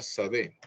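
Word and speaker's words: שדה: La palabra campo en hebreo se escribe así todo bonito y se pronuncia sadé.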